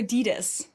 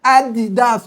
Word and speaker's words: Adidas: My shoes, they're Adidas.